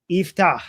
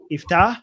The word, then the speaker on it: Yiftach: Yiftach. Okay. Hi. I don't know how to pronounce it. Hi. It's pronounced Iftach. Iftach.